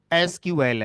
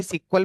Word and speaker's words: SQL: है तो अब आज इसका नाम एस क्यूएल है बट कुछ लोग अगर इसे आज भी सीक्वल प्रोनाउंस करें तो वो सही माना जाता है गलत नहीं माना जाता तो एस क्यूएल